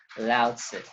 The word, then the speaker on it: Laozi: saiyan coming from laozi so of course the spelling is loud this is correct but this is t-z-u right but it is pronounced by a lot of speakers as laozi anyway lao says said